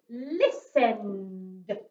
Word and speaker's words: listen: unit of time okay this one then has got a silent t it's got a t in the word that we do not sound out when we are reading it so this is the word le is list and listen listened got a